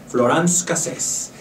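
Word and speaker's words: Florence Cassez: Voy a pronunciar como los franceses. Florence Cassés.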